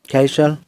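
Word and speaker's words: castle: एस के बाद अगर टी हो तो टी साइलेंट रहता है। जैसे कैशल, विशल।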